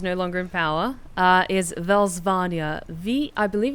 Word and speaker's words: Velsvania: The lands the Countess ruled over, because she's no longer in power, is Velsvania. I believe it's spelled V-E-L-S-V-A-N-I-A?